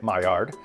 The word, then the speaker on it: Maillard: learned the mayard reaction it's a french word so if you pronounce it properly i think you leave off the end of the word so it's like my yaw reaction but we say my yard it occurs when part